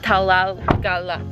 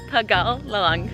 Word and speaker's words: Tegalalang: The driver just taught me how to pronounce it. It's basically called Tegalalang. No, I totally messed. Tegalalang.